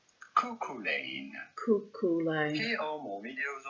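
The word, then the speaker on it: Cuchulain: We are looking at how to pronounce couain. Coolain. Coolain.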